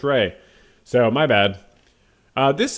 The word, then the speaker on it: Rhea: Hey, it's pronounced Ray. So, my bad. Uh, this is Ray Seahhorn with Vince Gilligan talking about uh painting.